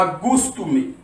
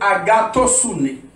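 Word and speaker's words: ἀγαθωσύνη: Premier mot, ce qui est lié, il y a agoustoumé. Non, c'est agatosouné.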